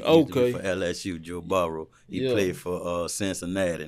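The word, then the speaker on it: Burrow: about uh how you how you pronounce his last name Joe Barrow is that how you see it yeah you know like LSU the quarterback okay for LSU Joe borrow he played for uh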